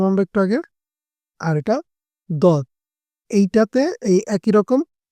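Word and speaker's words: ض: যে দাল পড়লাম আমরা একটু আগে আর এটা দত এইটাতে এই একই রকম অ হবে কিন্তু এটা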